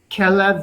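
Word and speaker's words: כלב: Okay, Gideon yesh kelev v'chatul.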